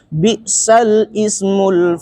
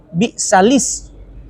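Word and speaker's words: بئس الاسم: Di situ biasa banyak orang membacanya bi'sal ismul fusuqu ba'dal iman. Nah, dia itu hukum bacaan nakal di dalam ilmu warasnya, riwayat waras. maka bacaannya dia bi'salis. Jadi kebacaan syari bi'salis.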